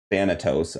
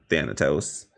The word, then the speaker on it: Thanatos: that makes sense uh and then fanatos i looked that up how to pronounce that so thanatos uh says yeah i